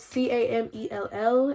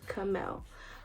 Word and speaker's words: Camell: My name is spelled Camell, and people would think it's Camel or Camille, but no, my name is pronounced Kamel.